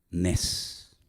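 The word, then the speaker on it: נס: Nes.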